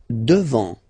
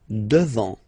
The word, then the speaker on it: devant: Devant, final T not pronounced. Devant, devant.